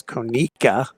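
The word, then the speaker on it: Conecuh: Commissioner Bockwinkel says the proper pronunciation is Konica.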